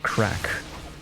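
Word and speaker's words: craic: Band-Aid off now also Craig is pronounced crack really okay basic Irish for you I'm learning I'm learning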